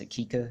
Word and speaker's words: Kiicaa: USB C cable yeah so the LIA go Kika mix think of the type pronounced akika okay good and then it looks like the